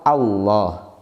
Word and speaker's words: Allah: mempunyai sifat tipis menimbulkan huruf lam itu harus tipis kecuali pada lafal allah' maka kita baca Allah wawloh uzair lohu Rosulullah I Wow dibacanya lemnya tahuliu atau kita sebut dengan tafkhim Hai lamnya dibaca tebal tapi hanya pada lafadz Allah saja yang didahului harakat fathah